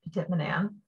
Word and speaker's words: Petit-Manan: I learned as Petit-Manan. However, I was told I do not say it like a local, and locals apparently say Petit-Manan.